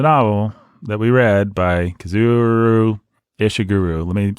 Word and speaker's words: Kazuo Ishiguro: Kazuo Ishiguro. There you go. It's kind of like it's spelled.